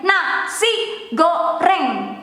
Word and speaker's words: nasi goreng: Nasi goreng. Nasi goreng. The go, the G there, it is the same when you have to pronounce ga, go. And the R, but it is okay if you pronounce it